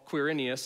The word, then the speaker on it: Quirinius: that took place while quirinius and many of you are like ah that's how you say that name i don't know if it is just kidding i looked on google and i pronounced it correctly i believe was governor